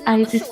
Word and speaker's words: Isis: something why did you choose your name why isis is it is that the way you pronounce it that right yes yes well i